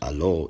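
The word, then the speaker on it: אלהא: And this word is pronounced Elah in Jewish Aramaic, Allah in Eastern Syriac, and Alo in later Western Syriac.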